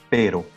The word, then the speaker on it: pero: software um rolling like when we say for example pero so as you can see as you can hear we are not saying raw because in that case we would be saying the word doc in spanish so there we recognize the difference between a longer role perro and the very very short uh rolling of the r which is perro so this r is